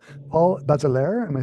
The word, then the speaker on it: Bazelaire: been arranged by, help me out with the pronunciation, Paul Bazelaire. Am I saying that Hmm. right? Very good. Yes. Bazelaire.